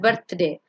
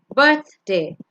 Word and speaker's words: birthday: le meridian, chef, leisure, birthday, it's not birthday, birthday, favorite, animals, crocodile, looked, giraffe,